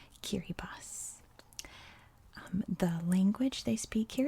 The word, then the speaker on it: Kiribati: b a t i and yes that is pronounced kiribas the language they speak here is called gilbertis